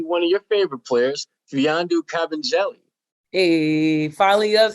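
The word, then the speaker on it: Mfiondu Kabengele: And Gary, we might see one of your favorite players, Fiandu Kabengele.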